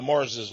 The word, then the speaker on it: Marr: There's even a town in Scotland where many of the Marses lived. Actually, they were called M-A-R-R, the Mar. But they pronounce it, the Mars.